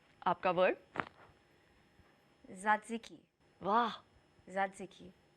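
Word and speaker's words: τζατζίκι: हाँ, तो मैं आपको ऐसा वर्ड दूंगी, आप उसको प्रोनाउंस करके मुझे बताइए कि आप इसे कैसे प्रोनाउंस करेंगी। ये है आपका वर्ड, ज़ात्ज़िकी। वाह, ज़ात्ज़िकी। सत्सिकी, एक्चुअली सत्सिकी, सत्सिकी।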